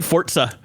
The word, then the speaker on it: Forza: Forza. Forza. You have you have great fortza. Thank you. Um pronunciation. This is kind of like fo r t s a with a real sharp s.